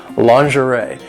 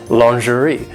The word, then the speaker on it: lingerie: it is pronounced lingerie in British English it is pronounced lingerie which is actually closer to the French pronunciation so American English is